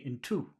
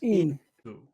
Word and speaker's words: into: right yeah into into so which which syllable has the emphasis in or to into into two no that would be in two in two but this is into into okay into yes